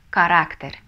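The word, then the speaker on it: carácter: доллар следующее предпоследнее слово характер по-испански читается как карактер эль-карактер ударение мы ставим Потому что если не поставим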